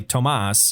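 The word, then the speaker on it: Tomasz: inferno from insky and Thomas although it's spelt it's probably Tomas Tomas its tio mas Z is plush of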